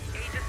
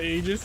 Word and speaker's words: Aegis: It's actually pronounced Aegis, not Aegis. You don't say the A part.